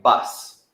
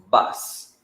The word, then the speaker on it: bus: bit different but so the letter U changes like an ah right bus bus this is very popular